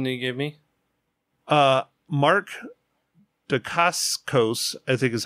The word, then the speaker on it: Dacascos: Mark Dacascos, I think is how you pronounce it, who plays Zero in John Wick 3, is in Agents of S.H.I.E.L.D.